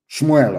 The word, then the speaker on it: Shmuel: Let me tell you what Samuel said. Shmuel, of course, correct pronunciation.